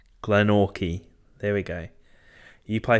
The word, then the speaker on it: Glenorchy: Okay, so it's Glenorchy.